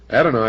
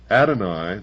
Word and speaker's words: Adonai: Adoni, also spelled well in the first place. Here it's spelled A D O N A Y and